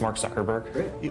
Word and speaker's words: Mark Zuckerberg: Can you just say your name and pronounce it so nobody messes it up and they have it on tape? Sure. It's Mark Zuckerberg.